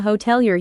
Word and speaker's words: hotelier: The stress in hotelier is on the middle syllable.